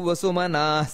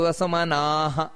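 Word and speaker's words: ವಸುಮನಾಃ: ಶ್ಲೋಕ ಯಾವುದು ಅಂದ್ರೆ ವಸುರ್ ವಸುಮನ ಸತ್ಯ ಸಮಾತ್ಮ ಸಮ್ಮಿತ ಸಮಃ ಅಮೋಘ ಪುಂಡರಿಕಾಕ್ಷೋ ವೃಷ ಕರ್ಮ ವೃಷಾಕೃತಿಹಿ ನೋಡಿ ಇಲ್ಲಿ ಉಚ್ಚಾರಣೆಯಲ್ಲಿ ಗಮನಿಸಬೇಕಾದದ್ದು ವಸುರು ವಸುಮನಾ ಸತ್ಯ ನೋಡಿ ವಸುರು ವಸುಮನಾಹ ಅಲ್ಲಿ ದೀರ್ಘ ಇದೆ ವಸುರು ವಸುಮನ ಸತ್ಯ ಸತ್ಯ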